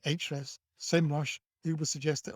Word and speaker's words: Ahrefs: So you analyze the page in an SEO tool, and Ahrefs, I know it's spelled Ahrefs, but they pronounce it Ahrefs, SEMrush.